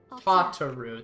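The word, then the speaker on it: Tataru: Tataroo. That's how you pronounce it.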